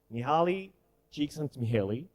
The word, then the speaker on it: Mihály Csíkszentmihályi: Well, you cannot spell it correctly, but this is the way he told people to call him. Mihaly Csikszentmihalyi.